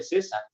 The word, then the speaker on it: César: la z ponía El ejemplo de mi nombre César para un niño que apenas está aprendiendo le cuesta trabajo al principio poner la y luego la s por qué Aquí tengo c si se pronuncia igual que este de acá si mejor utilizo la s en ambos casos Ah pero es que